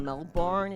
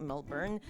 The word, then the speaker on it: Melbourne: thinking maybe moving interstate, like going to Melbourne, as the Americans say, when it's actually like Melbourne.